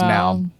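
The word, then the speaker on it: PNAU: australian dance act now i feel like the p is silent and then it's just now uh but you know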